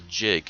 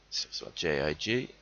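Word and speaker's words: gigue: This particular dance type is called a jig, spelled with a G as opposed to the one spelled with a J-I-G.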